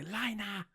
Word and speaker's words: Reiner: They say Lina because they're Japanese and they pronounce their R's with the L's.